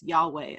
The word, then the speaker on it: Yahweh: Bible text which is usually pronounced in English as Yahweh Elohim so we have a